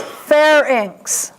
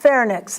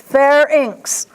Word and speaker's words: pharynx: This next word, most people mispronounce, but the correct pronunciation is pharynx. See the not pharynx, pharynx.